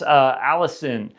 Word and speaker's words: allicin: Garlic contains a compound called, I believe this is pronounced Allicin. It's Allicin, which is a real antimicrobial, it has real antimicrobial effects, right?